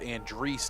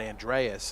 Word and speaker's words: Andres: I was informed it's pronounced Andres, not Andreas, as commonly hear his last name pronounced the other way, but always appreciate being told the right way to say someone's name.